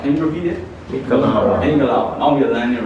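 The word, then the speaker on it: မင်္ဂလာပါ: Mingalawa. That's here. Mingalawa. Mingalawa. Can you repeat it? Mingalawa.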